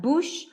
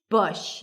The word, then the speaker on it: bush: Beat around the bush, not bush, bush, lacks cook, look, book.